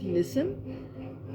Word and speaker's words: listen: Their word of this meaning is listen. In this word, the silent letter is letter T.